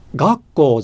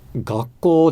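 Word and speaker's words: 学校: But what happened is, on the spot, my friend said, Dōgen, gakko じゃなくて gakko desu.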